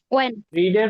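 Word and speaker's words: read: মাথায় রাখবেন সবাই বানান সেম বলতে পারতো বানান তো চেঞ্জ হয়নি কিন্তু বানান সেইম কিন্তু উচ্চারণ আছে রেডের মত রেড ওকে তো কি বলতেছে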